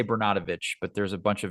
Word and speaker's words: Bernatovicz: I pronounce it Bernatovicz, but it is a funny thing in our family. At family reunions, there's roughly, I should know the number, 17 now. And we go around the dinner table and how do you say our last name? And there's 5 or 6 different variations of it.